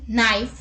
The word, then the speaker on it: knife: Let's look at a seventh word with silent letter KN. Let's look at the examples. Knack, knee, kneel, knife, no, night, knuckle, knit, knob and knot.